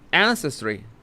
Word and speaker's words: ancestry: a bit of ancestry is is this the right way of stressing that word ancestry ancestry how do you say that maybe later oh my God my dictionary uh says three is huh ancestry ancestry ancestry in the first syllable ancestry have a have